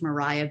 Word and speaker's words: Maria: chapman and mariah stewart the name that we know as maria was often pronounced mariah back then mariah stewart unfortunately there